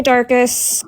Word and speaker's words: Darkest: Hey, Darkest, what can I do for you? Hey. Sorry, I'm laughing. It's funny how people, and it's not your fault either. A lot of people mispronounce my name. It's Darkest, but no, I just